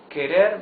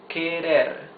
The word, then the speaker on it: querer: Try to pronounce the words querer, querer. You see that the R is the soft sound of the R, because it's not at the beginning of the word, and because it is not doubled, it is not double R.